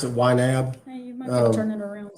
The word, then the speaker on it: YNAB: out is you need a budget uh and pronounce it ynab you might turn it around yeah yeah the